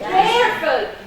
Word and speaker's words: careful: What do you stress? Careful. Care. Got it. Careful.